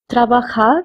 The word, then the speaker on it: trabajar: Trabajar means to work. We are saying trabajar over here because J has the pronunciation of K in Spanish.